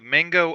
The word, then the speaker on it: Mango: It was called Mango Unchained.